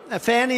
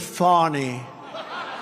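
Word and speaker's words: Fani: It's F A N I. She pronounces it FYI. A I don't see it. To me, it's Fanny.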